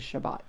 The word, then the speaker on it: Shabbat: pronunciations would be here so Sabbath in Israel is Shabbat so we'll let the